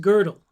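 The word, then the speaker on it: Gödel: name was pronounced Uh but it's pronounced girdle.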